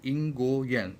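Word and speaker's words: 英国人: अब यहाँ पे मैंने पहले बताया आर को हम एज इट इज़ आर नहीं पढ़ेंगे. आर का आवाज़ जो है वो थोड़ा जो है वो जब हम इसको प्रोनाउंस करेंगे तो वो छुप जाएगा.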